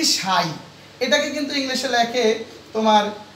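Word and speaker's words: psi: লেখছি পিএসআই অর্থাৎ এইটাই এই পিএসআই এর উচ্চারণই হচ্ছে সাই আচ্ছা যাই হোক সাই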